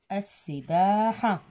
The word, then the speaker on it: السباحة: ثالثا السباحة، أيضا شمسية، ال تكتب ولا تلفظ، السباحة، السباحة، المشي، الركض، السباحة، المشي، الركض، السباحة، المشي، الركض، السباحة.